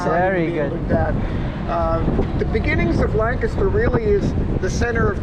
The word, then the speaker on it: Lancaster: after their home in Lancaster, England. Oh, and that's how they sounds pronounce like it, British. Lancaster. Yep, very British.